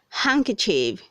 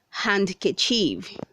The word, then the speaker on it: handkerchief: 198 says hank chief say hank chief not handkerchief word 199c honest say